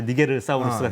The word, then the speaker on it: 니게르사우루스: 니제르죠, 니제르. 라틴어식으로 발음하면 이제 니게르사우루스가 되는 건데 머리가 되게 특이해요.